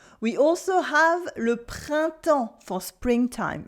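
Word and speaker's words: printemps: s we also have le Pronto for Springtime Le Pronto with a silent b a silent s and you don't hear any n or M sound either Le pronto with a lot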